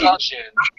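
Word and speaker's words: Dzogchen: Hey, I didn't know how to pronounce it at the time. I'm a learning progress. It's Zongchen.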